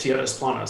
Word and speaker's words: Tierras Planas: say it so I said I say it TNS Lummis so I roll the arms that's how I